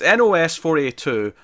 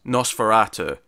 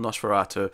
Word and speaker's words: NOS4A2: comments telling us after as nos 42 what she pronounced count like a license plate this made a sale word is Nosferatu yeah yeah so you know we can redeem ourselves here we can acknowledge it's called Nosferatu and we can move